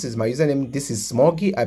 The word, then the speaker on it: ksmuggy: my username this is smoggy I pronounce it this first K is silent so I pronounce it